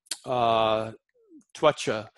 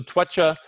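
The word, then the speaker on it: त्वचा: if we talk about twacha, the herb, or yeah, so twacha, the C is always, it's always pronounced like cha. It's like the C in Italian mostly.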